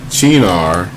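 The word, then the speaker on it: Cynar: go to the bar and by the way China are spelled c-y-n-a-r but it's pronounced c-h-e-e -n-a-r okay and it's going to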